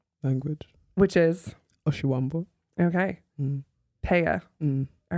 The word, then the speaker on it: Pea: my good friends, Tulela Pea. Pea? Yes. I guess we're not that good of friends. Pea, I've been saying P the whole time.